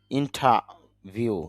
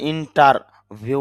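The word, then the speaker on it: interview: interruption বাধা ইন্টারাবল যদি আমরা ইন্টারবাল এরকম বলি না ইন্টারবল ইন্টারাল বিরতি ইন্টার ভিউ যদি আমরা ইন্টারভিউ বলি কিন্তু এখানে র সাউন্ডটা যদিও এখানে আর আছে কিন্তু আইপিতে ওই সাউন্ডটা নেই এজন্য এরকম উচ্চারণ হবে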